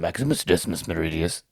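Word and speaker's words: Maximus Decimus Meridius: 100 better characters in Maximus Decimus Meridia yep that's how you have to say it if you say his full name you have to say it like that acus Meridius um commander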